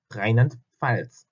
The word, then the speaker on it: Rheinland-Pfalz: 그래서 Rheinland-Pfalz 이게 굉장히 발음이 어렵거든요.